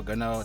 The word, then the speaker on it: Gano: Gano, that's how you pronounce his name, but still a good spot here.